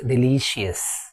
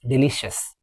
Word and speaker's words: delicious: C i o u s is pronounced as shess.